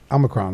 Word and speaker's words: omicron: solving the the opioid you've seen this omicron omicron right is how you say it i call